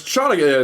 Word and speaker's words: Chanukah: It's Chanukah.